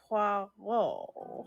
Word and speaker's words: Poirot: Hercule Poirot. How do you say parrot? Hercules parrot. Hercules parrot. Pucker your lips as if to bestow a kiss.